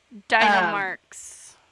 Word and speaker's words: Dynamarx: I don't know why I can't pronounce his fucking name. Dynamarx.